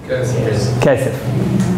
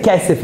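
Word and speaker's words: כסף: Kesef.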